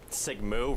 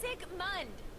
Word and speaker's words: Sigmund: Sigmoo. Really? It's not that hard to pronounce, boy. It's Sigmund. Sigmund.